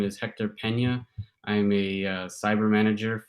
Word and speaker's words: Hector Peña: name and title so everyone knows how to pronounce it correctly let's go hey hello everyone my name is hector pena i am a cyber manager for our detection